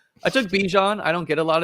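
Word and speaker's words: Bijan: It's Bjan.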